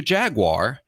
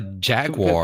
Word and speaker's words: Jaguar: When I say it like that, it sounds like someone who's only read the word but never heard it pronounced, and that's how they say it.